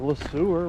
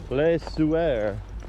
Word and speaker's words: Le Sueur: Here we are in the town of Le Sueur, Minnesota. Or as Google says, Le Sueur. but it looks like it's spelled Le Sauveur.